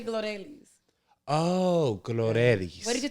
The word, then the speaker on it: Glorelys: yes sorry so you my first name you spell it g-l-o-r-e-l-y-s as you guys see right here in spotify apple podcast youtube absolutely go ahead but you say gloria oh glorious what did